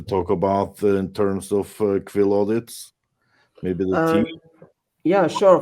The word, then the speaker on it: QuillAudits: so just look us up on uh about quill Audits and uh you you can you can connect